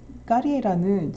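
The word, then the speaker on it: Carriera: 이 까리에라는 제가 까리에라라고 읽는 건 사실은 이분은 이탈리아 출신이기 때문이에요.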